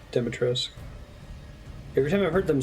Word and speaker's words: Dimitrescu: Over in the game, pronounces it Dimitrescu.